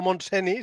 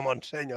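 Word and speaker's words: Montseny: madera de historiador porque ha pronunciado bien monsen en catalán es no monseni sino monseño o sea anda que no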